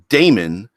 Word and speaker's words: daemon: yeah a it's pronounced demon I get it but I like pronouncing it Damon as in just the way that the dae as opposed to the de by itself yeah a technological virus